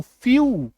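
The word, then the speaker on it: few: आगे बढ़े, चलो नेक्स्ट देखो, जब किसी वर्ड में ई के बाद डब्ल्यू आ जाए, ई के बाद डब्ल्यू आ जाए तो ई डब्ल्यू का उच्चारण जो है वो क्या बन जाएगा, यू, यानी कि बड़ी उकार की मात्रा, यानी कि बड़ी उकार की मात्रा, तो एफ ई डब्ल्यू फ्यू, वी आई ई W view, due, stew, ठीक है,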